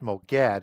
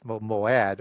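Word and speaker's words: מועד: So it's not Yeah. pronounced Moged, it's Moad, or the place of the assembly, right?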